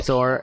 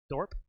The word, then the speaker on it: Thorpe: Well, just to let you guys know, the next match is Billy Thor and a question mark because they don't Thorpe? Thorpe. Sorry, I pronounced it wrong.